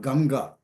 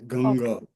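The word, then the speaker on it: गङ्गा: It's not Ganga. It is Ganga, Ganga. Okay. That means if So it that comes Anuswaram after as ing. You have to pronounce it.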